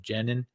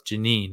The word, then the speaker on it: Jenin: on the West Bank City of genin um sorry it's Janine I always pronounce it wrong uh so the Israeli